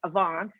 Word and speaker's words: Avaans: is you know it's it's flemish for it's like advanced it's flemish or you know or so if you say it right a vox then it sounds like advance and it's fine um